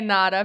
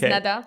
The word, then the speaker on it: Neda: my name is nada i'm not gonna say nada because everyone calls me nada but he hates it my name is neda that's how you pronounce it i'm good with nads